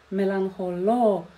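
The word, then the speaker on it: μελαγχολώ: «Боро», «меланхоло», «меланхолис» — это ударное окончание.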